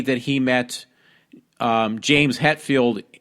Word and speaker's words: Hetfield: that he met James Hetfield like one-on-one, like he's like friends with James Hetfield. But the guy didn't know how to say his name correctly, so he called him James Hatfield.